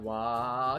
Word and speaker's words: Waaagh: I pronounce it like wah. See, that's how it's supposed to be. The fact that there's a G in there at all is like a goof.